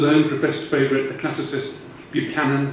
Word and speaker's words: Buchanan: professed favorite the classicist Buchanan who I'm told I have to pronounce banan but that may be a northern thing readily mixed Continental humanist